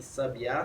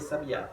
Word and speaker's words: sabiá: Sábia, sabia e sabiá. E a diferença é o mero acento agudo, ou seja, é a posição da sílaba tônica.